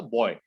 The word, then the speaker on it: buoy: we call as a boy it's exactly the same pronunciation with the common word that we use b-o-y okay boy and boy same pronunciation okay let's see if